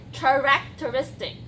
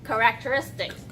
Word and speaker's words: characteristics: word usage that I've heard starting off with pronunciation somebody mentioned her academic characteristics so it starts with ch but it's pronounced its cup characteristics grinned somebody mentioned green green petit grind with